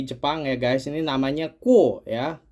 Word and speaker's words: KUOE: ya guys ini namanya ku ya k u o e dibacanya ku ini jam e dari Kyoto